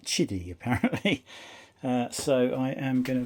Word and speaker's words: Qidi: Although it's spelt Qidi, they pronounce it Chidi apparently.